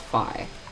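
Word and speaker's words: phi: every single lecture see I literally called it fee it's pronounced fi this thing F rhymes with pi oops that's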